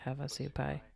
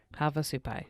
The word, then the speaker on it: Havasupai: native uh american reservation i want to learn how to pronounce this havasupai havasupai got it it's like a it's like a song so yeah and they